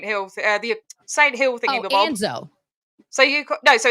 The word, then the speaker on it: ANZO: Anzo. So so it's AOSH Anzo. That's how it's spelled.